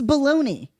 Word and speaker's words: bologna: It's baloney. It's baloney. Spell it the way it sounds.